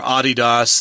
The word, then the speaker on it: Adidas: a contract to advertise Adidas products or Adidas that's how they pronounce it in Europe and so they had